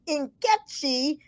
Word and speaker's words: Nkechi: in college I find out it really is inkechi uh in like in puma and the e